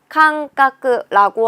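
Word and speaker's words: 間隔: 훈독은 아이다 또는 마라고 읽는데 간격이라고 할 때 간자는 칸이라고 읽어줍니다. 사이뜰 격자는 카크라고 읽기 때문에 칸카크라고 하는 게 간격이라는 뜻이 되는 거죠. 여기에는 어디에도 타금이 없구나. 칸카크 외워주시면 되는 거예요.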